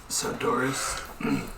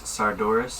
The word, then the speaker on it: Sardoris: Sardoris. Like sardines, but Doris. Sardoris.